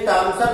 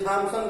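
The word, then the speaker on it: Thomson: Electron की खोज जे टॉमसन नाम के वैज्ञानिक ने की थी। जे टॉमसन। जे टॉमसन में टॉमसन की स्पेलिंग लिखते समय टीएच का प्रयोग करते हैं, तो कुछ लोग जे थॉमसन भी बोलते हैं।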